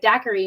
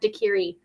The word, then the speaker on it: daiquiri: and i was like how did you pronounce it i was like daiquiri and he's like that's how you pronounce it and i was like i meant dakiri it's all good that's